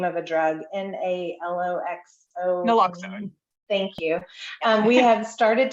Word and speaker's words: naloxone: administration and provided and I'm not going to pronounce this correctly it's the name of a drug n-a-l-o-x-o naloxone thank you we have started to discuss the